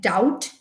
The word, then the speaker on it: doubt: b is silent uh we did doubt in which b is again silent we did d d